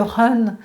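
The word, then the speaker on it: Hun: Je pense par exemple à l'esprit du foie qui s'appelle le Run, ça s'écrit H-U-N, mais le Run, s'il n'est pas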